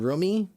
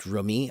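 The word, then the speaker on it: Rumi: I You mean Roomie? I believe it's pronounced Roomie. I'm not certain of that, but that's what I've heard.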